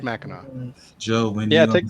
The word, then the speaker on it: Mackinac: No, it's spelled Mackinac. I don't know why. But it is pronounced Mackinac.